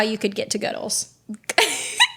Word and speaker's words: Goodles: I said, I mean, I really like this like Goodles one. Yeah. Is that how you say it? Goodles? Goodles? Yeah. It's probably Goodles. Because that would rhyme with noodles.